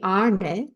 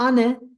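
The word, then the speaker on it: ആണ്: So here, when we say to be, arne, it's the retroflex na. Na. It's not ane, arne, arne.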